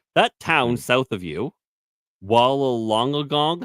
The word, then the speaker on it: Wollongong: That town south of you, Wollongong. How do you pronounce that?